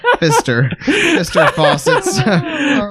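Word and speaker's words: Pfister: No, it's just a silent P in there, isn't it? Fister Faucets.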